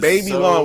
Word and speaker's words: Babylon: I hated this movie it was babyon why y'all keep pronouncing this wrong babyon uh is French wait you didn't like